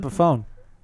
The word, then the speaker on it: Epiphone: What's an epiphone?